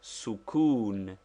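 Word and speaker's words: sukūn: the use of sukoon pronounced sukoon that is with the Italian it denotes the letter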